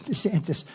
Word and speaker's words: DeSantis: on a program Ronda sanus his name is DeSantis but they had him on a program ladies and gentlemen we're proud to have the governor of Florida Mr Ron DeSantis they said no no no it's DeSantis that's good branding right when they can't even